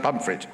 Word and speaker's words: Pontefract: So that's like Pontefract, but yes, pronounced pomfret, right? Okay, pomfret cakes.